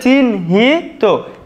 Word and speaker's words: চিহ্নিত: দেখো চিহ্নিত, আমরা দেখো লিখতে পারি চিন, আমরা আগে লিখে নেব চিন, তারপরে হি, চিন হি, তারপরে তয় ওকারে তো, তাহলে চিন হি তো, এটাই আমাদের সঠিক উচ্চারণ।